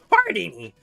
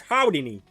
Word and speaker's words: Houdini: First of all, it's pronounced Hardini. No, it's Houdini. It's... Why are you both pronouncing with an R?